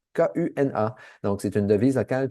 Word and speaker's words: kuna: Je vous mentionne qu'on est en Croatie donc la devise locale c'est le kuna k u n a.